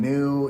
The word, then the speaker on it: nu: got to new and new is uh sounds like new right i mean homophonically it's got the same pronunciation and so when people